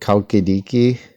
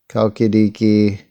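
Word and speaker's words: Chalkidiki: here it is kaukidiki so it's spelled sometimes hulkidiki so maybe it's more like or something um let's see but it's you know it has the pronunciation with the K or so basically kalkidiki it's pretty cool it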